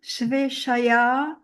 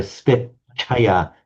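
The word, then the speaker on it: स्वेच्छया: This double ch sound you pronounced very correctly there, but it came as more like a sveshaya, svechaya, swechaya. Svechaya. Exactly Svechaya.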